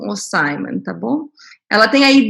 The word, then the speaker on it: Simon: eu não tinha te perguntei como que se pronuncia o seu nome depois você me corrige o Simon Simon tá bom ela tem aí 10 anos de